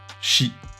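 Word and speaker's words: 四: à la mort puisqu'il se prononce de la même manière chi comme dans le mot shinigami dieu de la mort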